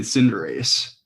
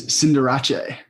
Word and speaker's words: Cinderace: you been pronouncing it we've been pronouncing it cinderace and it's cinderache no way yes isn't